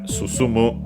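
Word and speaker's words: 進む: already seen to return we have susumu the other verb we have seen on the sign in Kirby's adventure which means the opposite to advance and is unacented. Yes it's unacented.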